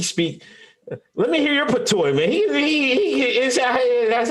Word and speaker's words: patois: Let me hear your patois, man.